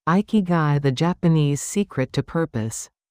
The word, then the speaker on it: Ikigai: They discovered a concept called Ikigai, pronounced Ikigai, which roughly translates to reason for being or purpose in life.